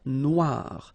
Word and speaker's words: noire: Then here, la mer Noire. Same thing here that we had previously. Final E not pronounced, okay? And then O-I, remember, wa, noir, noir.